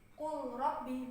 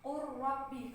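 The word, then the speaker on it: قُلْ رَبِّ: ini juga ada nah ini baterainya bukan cool Robbi Bukan tapi urrobbi karena Lam sukunnya sudah melebur secara sempurna ke huruf apa ya karena kan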